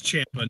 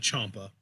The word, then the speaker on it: Ciampa: I mean, you really want the Blackheart shirt, you should just pronounce his name correctly. It's Ciampa, not Ciampa.